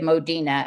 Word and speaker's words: Modena: Yes, so a book about James's queen, who Mary Mary of Modena, or Mary of Modena, as it's usually pronounced in England.